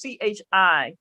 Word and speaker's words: Chi: it's spelled c-h-i-o-n-e-s-u so the first three letters is c-h-i so but it's Chi it break it in the syllable break it in the white folks syllables um and that's pretty much how it's pronounced but Empress Chi is